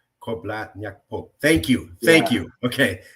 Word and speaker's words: George Korbla Nyakpo: George, could you say your name the way you pronounce it, sir, your full name? Yeah, so my name is George Korbla Nyakpo. Korbla Nyakpo.